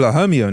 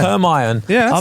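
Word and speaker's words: Hermione: you're reading whatever like first time I read Harry Potter I didn't know how to pronounce herani I used to call herion in my head you know that's what I said did you do that as well Herm her her herion Hermon yeah hermion who the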